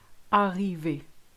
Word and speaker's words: arrivé: First of all, you need to say your vowels correctly. I'll give you two examples. Chocolat, arrivé.